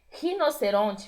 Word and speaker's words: rinoceronte: O R vibrado, o E com som de E lá no final, sem a gente transformar em I, que é rinoceronte.